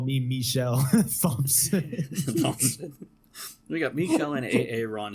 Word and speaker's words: Thompson: Thompson. Hey, you guys! It's that semi-silent P at the last. Apparently, it's that silent H that's the problem. The silent H.